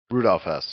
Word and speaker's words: Rudolf Hess: Uh Rudolf Hes. Is that how you say it? Rudolph Hess.